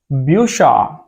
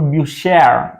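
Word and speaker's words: Bücher: It is Busha, Busha or Bushare. You can call it Bushare because here we have a at the end. Yeah, but in German normally, if it is like from second last position or last position, then we usually call it Busha or rather than a. Okay, so that's why it is Busha.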